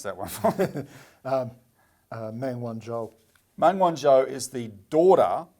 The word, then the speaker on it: Meng Wanzhou: You pronounce that one for me. Meng Wanzhou.